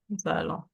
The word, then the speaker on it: nous allons: When a vowel and a consonant meet, always remember to pronounce the linking sound between them. So nous allons becomes nous are like this. Nous sorry. Oh, nous allons. See what I mean? So Yep. that's the way it's going to be pronounced.